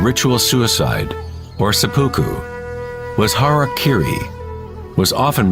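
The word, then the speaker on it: hara-kiri: one form of ritual suicide or seppuku was har Kiri was often mispronounced as Harry Keri it means to impale one's Hara thereby cutting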